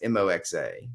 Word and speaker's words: moxa: you spell this word moxa yeah it sounds like the Jewish bread um I don't I don't think it's spelled the same way uh so I if I remember correctly Glenn it's m-o-x-a moxa oh m-o-x-x okay